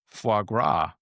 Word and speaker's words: foie gras: He remembered his second date with Viola when he had pronounced the S at the end of foie gras.